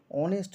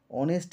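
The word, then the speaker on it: honest: এখানে এক নম্বরে দেখো অনেস্ট ম্যান তার আগে আমি এন লিখেছি অনেস্ট এর এখানে এইচ টা কিন্তু কনসোনেন্ট কিন্তু কনসোনেন্ট থাকা সত্ত্বেও উচ্চারণ হচ্ছে অনেস্ট শুরুটা হচ্ছে অ সাউন্ড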